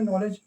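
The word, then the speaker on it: knowledge: जैसे नॉलेज नॉलेज की spelling के एन ओ डब्ल्यू एल इ डी जी ई नॉलेज। ये देखिए इसे के यहां क्या है? साइलेंट है। ना से पढ़ते हैं।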